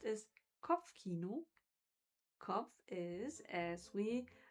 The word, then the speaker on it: Kopfkino: The German word pronounced is Kopfkino.